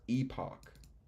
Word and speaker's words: epoch: if this is so dumb but it's typically pronounced Epoch eel EP Epoch while American English com well